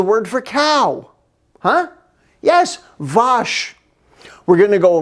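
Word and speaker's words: vache: french what's the word for cow huh yes vosh we're gonna go vosh the cow in norwegian what's the words for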